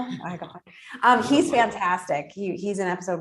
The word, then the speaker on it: Iglehart: I was like, is it Eagle? Iglehart.